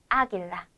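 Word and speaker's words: águila: 이렇게만 읽어 주셔야 합니다 그래서 게라 게라 이렇게 읽어야 하고 아길라 아길라라고 읽어야 하는 거예요 마지막으로 예외가 하나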